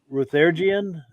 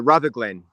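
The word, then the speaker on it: Rutherglen: it was the Ruth ruthergian Rumble car show am I pronouncing that right it's uh rather Glenn brother Glenn oh that's a yeah that's an L I thought that was an i all right sorry oh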